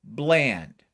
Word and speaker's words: Bland: with a v bland b l a and d now you know my last name is not a hard name to spell it's the word land with a b in front of it okay this is not